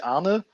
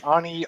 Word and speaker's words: Arne: In German, it would be Arne, but Arne. I'm been traveling around the world, so I'm pretty used to all kinds of variants. It's Arne, Arn, either is fine.